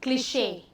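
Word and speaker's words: cliché: क्लिशे, इसको क्या कहते हैं, इसका क्या मतलब प्रोनाउंसिएशन होता है, इसको ये बोलते हैं क्लिशे।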